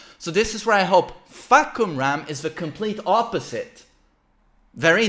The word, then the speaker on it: Fahkumram: Wait, how did he pronounce it? Huh? Fahkumram! Wait. I gotta turn it up. Fahkumram! Okay. Fahkumram!